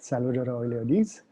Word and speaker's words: Salvadora oleoides: Salvadora oleoides, if I pronounce That's exactly what I said, Salvadora oleoides.